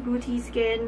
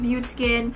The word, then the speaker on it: BeautéSkin: BeautéSkin? I think this is French. Beauty. I used the translator and it says here it's French. And this is how they pronounce this.